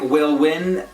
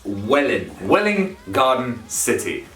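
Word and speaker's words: Welwyn Garden City: it's welling on city it looks like will win but it's not it's well in willing garden city even the garden is kind of pronounced like a garden well in gun city city because this is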